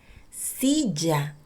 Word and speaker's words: silla: When you see double L, you will pronounce the same as Y. For example, silla. Silla is with double L. Silla is chair. And yate. Yate is with Y. Yate is yacht. The sounds are the same.